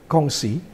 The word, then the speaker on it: Kongsi: The words Kongsi, you see the letter, the last word Kongsi. How to spell it? You spelled it correct in Hokkien, Kongsi. Yes. And Gongsi is in Mandarin.